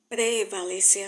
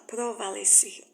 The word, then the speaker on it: prevalecer: Prevalecer, as pessoas falam provalecer. Veja, prevalecer, não provalecer.